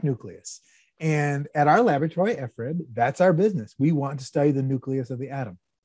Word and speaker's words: FRIB: So what we do in that laboratory, the Facility for Rare Isotope Beams, or FRIB, I know it looks like FRIB. It's pronounced FRIB. You just have to trust me on this one.